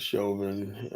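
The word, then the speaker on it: Chauvin: You know, pronouncing as Shovin.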